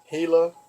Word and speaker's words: Gila: never heard of it gila cliff dwellings it's spelled GI la but it's pronounced gila because in Spanish a